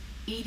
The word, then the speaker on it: EDI: a specific inquiry why are you named Ed Ed is the phonetic pronunciation of Ed that is an acronym for